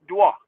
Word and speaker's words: Dior: Okay, he meant Christian Dior, but that's how they say it in France. It's Dwa.